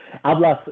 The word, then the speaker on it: Ablaz: I'm here today with Ablaz from Nachtblut. And before I continue, did I pronounce it correct? Please help me out with this. Yeah, it's all good. Ablaz is good. Also, your pronunciation and all your German words is very good.